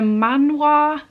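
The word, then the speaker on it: manhwa: have two manga actually one of them's a man wah so I pronounce it because it's Korean not Japanese but both of these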